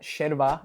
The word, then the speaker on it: yerba: Now remember in Argentine Spanish, the majority of the time the double L and the Y are pronounced as sh, right? This is called sheso. That's why it's called sherva in Argentina when it's actually spelled yerva.